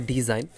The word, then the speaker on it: design: এরপরে rules number 5, ওয়ার্ডের শেষে IGN থাকলে তার উচ্চারণ আইন হয়, এর ক্ষেত্রে জি উচ্চারিত হয় না। যেমন ডিজাইন, DESIGN, এখানে কিন্তু জি এর উচ্চারণ হয় না।